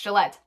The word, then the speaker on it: Gillett: is directed by Matt Bettinelli Open and Tyler Gillette. Yes, it's pronounced Gillette.